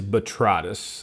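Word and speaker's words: Botrytis: B O T R Y T I S. Betritus. And it is betritis.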